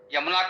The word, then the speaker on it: यमुना: यमुना को जमुना, गंगा जमुनी संस्कृति सुनते होंगे। तो जमुना क्या है भाई, है तो यमुना, वो गंगा जमुनी नहीं, गंगा यमुनी संस्कृत कहना चाहिए। लेकिन अब उच्चारण भ्रष्ट हो गया है।